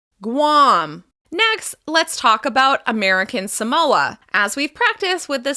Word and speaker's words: American Samoa: As we've practiced with the states and other territories, the second word will be stressed. In this case, it will be the second syllable. American Samoa. American Samoa. American Samoa.